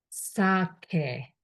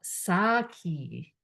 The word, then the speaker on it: sake: I pronounced sake, but I hear a lot sake. But when you talk with Japanese, pronounce sake, which is this. Sake. So English E is always e.